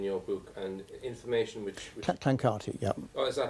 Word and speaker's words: Clancarty: Now, you mentioned Lord Clancy in your book, and information which... Clancarty, yeah. Oh, is that how it's pronounced?